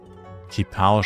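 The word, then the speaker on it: Qipao: Kipao schreibt man Q-I-P-A-O. Kipao.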